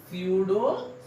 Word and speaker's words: pseudo: English में spelling थोड़ा अलग है बेटा, स्पेलिंग स्टार्ट पी से होती है, PSEUDO, स्यूडो सॉलिड।